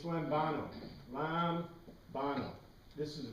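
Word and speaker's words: λαμβάνω: E-B-E-T-E, lambete, it's lambano. Lambano. This is the pronunciation.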